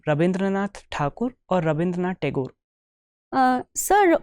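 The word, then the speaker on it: Rabindranath Thakur: okay so uh what was his real name rabindranath takur or rabindra tagor uh sir rindra takur is how it is pronounced in uh Bangla and uh rabindra tagor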